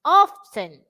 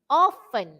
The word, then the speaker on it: often: often is for british often is for american okay so always often